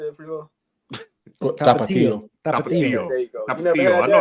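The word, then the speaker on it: Tapatío: Tapatio.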